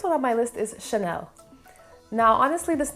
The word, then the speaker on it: Chanel: heavy like sound but the a sound in the french language is more it's supposed to be more light and airy so it should be pronounced more like chanel so it's more of a sound chanel next one on